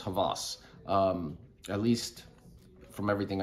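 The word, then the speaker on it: Hawas: else and it's rasasi Havas okay it's spelled h-a-w-a-s but it's pronounced Havas um at least from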